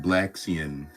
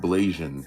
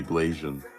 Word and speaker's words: Blasian: So I just realized it's not pronounced Blaxian. It's pronounced Blasian. It must be Blasian.